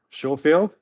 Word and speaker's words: Schofield: Next, I have Jade Schofield. That's right. I have German relatives, and I always want to. Schofield. There is the British pronunciation of a German name.